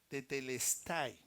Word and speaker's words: tetelestai: esa palabra es una palabra griega que se pronuncia tetelestai señor Jesucristo dijo tetelestai en esa época se